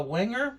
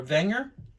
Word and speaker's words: Wenger: knife this is a wenger or wenger i know the w is pronounced with a v backpacker i believe this